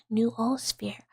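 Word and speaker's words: noosphere: The new spirit is a philosophical concept tied to unified consciousness pronounced new old sphere.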